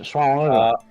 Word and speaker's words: Suomenlinna: I was raving on about the word Suomenlinna not being that difficult to pronounce. You heathens. Yes, Suomenlinna. Suomenlinga.